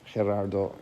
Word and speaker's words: Gerardo: done by gerardo centeno gerardo is the way it's pronounced in chile all our major artists